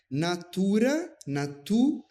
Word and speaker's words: natura: A palavra é natura mirante. O acento está sobre a sílaba tu, mas em muitos lugares a gente observa os coros cantando Tuque genuisti natura mirante, deslocando o acento da palavra como se a palavra fosse natura, quando a palavra é natura.